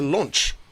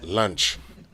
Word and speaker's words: launch: to introduce something new it's a launch not lunch and that's how you say it right yes